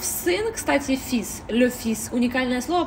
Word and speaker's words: fils: А в сын, кстати, fils, le fils, уникальное слово, потому что s на конце мы его произносим, потому что обычно во